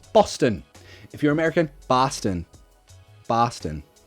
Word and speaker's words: Boston: How to pronounce Boston? Boston.